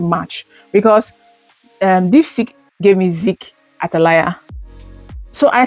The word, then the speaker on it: Zeke: So I said, since it's pronounced Zeke from Ezekiel, it might confuse people if you don't try to spell it. Like, okay, if you just say Zeke, you will just go Z-I-C or Z-I-K. You will not go Z-E-K-E.